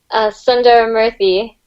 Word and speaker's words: Sundaramurthy: And depending on your name, how is your surname pronounced? Sundaramurthy. Sundaramurthy.